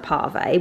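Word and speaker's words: pavé: I think it's pronounced pave, but P-A-V-E.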